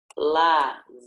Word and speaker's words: lasanha: Lasanha. Por que esse S tem som de Z? Porque está entre 2 vogais.